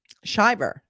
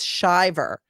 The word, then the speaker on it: Shiver: Shiver, not Shriver. I keep getting them confused with Maria Shriver, but it's not. It's Shiver, but it's spelled like shiver.